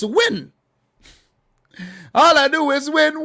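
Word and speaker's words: Nguyen: name and you like it's not new shin it's win all i do is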